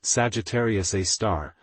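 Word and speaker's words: Sagittarius A*: 4.3 million solar masses Sagittarius a asterisk pronounced Sagittarius A star the super massive black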